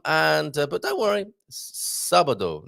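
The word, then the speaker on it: sábado: uh but don't worry sabado not sabardo okay so there i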